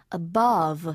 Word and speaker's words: above: above, A-B-O-V-E인데요. above가 아니고요. 앞에 어는 거의 발음이 안 나요. 누가 툭 쳤을 때 이 정도 소리 납니다. 그러면 세게 나는 소리는 above. 그래서 above 하고 발음을 하시면 좋고요.